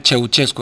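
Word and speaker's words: Ceaușescu: era él el chieuchesco Pero bueno la es la pronunciación rumana eh cheuchesco en realidad se escribe como como lo veis en el título en castellano digamos castellanizado en rumano se pronuncia como lo estoy pronunciando yo y más o menos me imagino que no lo produzco pronunció exactamente como nativo y se escribe de otra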